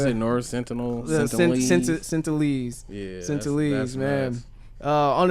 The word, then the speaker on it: Sentinelese: How you pronounce it? North Sentinel? Sentinelese.